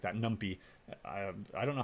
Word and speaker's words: NumPy: or wants to comment i've always pronounced it numpy because it's number pi python but so i guess it should be uh pronounced numpy for python but it sounds better if it's numpy right all right let's go